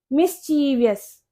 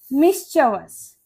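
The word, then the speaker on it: mischievous: मिस्चीवियस, ज्यादातर इसको मिस्चीवियस बोलते हैं, जिसका मतलब होता है शरारती, लेकिन इसकी करेक्ट प्रोनाउंसिएशन होती है मिस्चवस।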